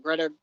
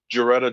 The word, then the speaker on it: Geretta: MZ's there's a documentary called In Search of Darkness, and MZ's friend Greta, I always say her name wrong, Greta. Geretta.